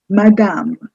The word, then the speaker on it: madame: madame you don't say the first ma is short and the next half is slightly longer more stressed my damn the third one is